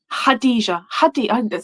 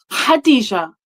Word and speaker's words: Khadijah: Hadah. Had my name wrong. Hadijah.